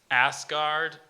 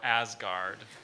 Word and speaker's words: Asgard: gods from Norse mythology other alternate pronunciation there's just the two ass guard asgard asgard a s g a